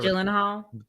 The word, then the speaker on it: Gyllenhaal: Is it hard G Jake- or soft G? Gyllenhaal.